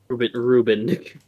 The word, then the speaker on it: Reuben: No, Reuben. Like Lilo and Stitch, Reuben.